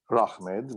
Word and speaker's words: Rahmed: My name is not actually Rahmed, which was to rhyme with Ahmed.